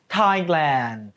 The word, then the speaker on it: Thailand: ประเทศ ไทย ภาษา อังกฤษ ใช้ คำ ว่า Thailand Thailand ออก เสียง ตาม ครู ลูก ไน Thailand นะ